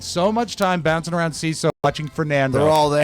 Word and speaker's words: Seeso: Welcome back to the Mike O'Mara Show, brought to you by CISO.